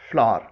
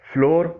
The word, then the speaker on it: flour: FLOUR فلار اس کے معنی ہے آٹا. اسے عام طور پر فلور بولا اور پڑھا جاتا ہے، جبکہ اس کا صحیح تلفظ ہے فلاور.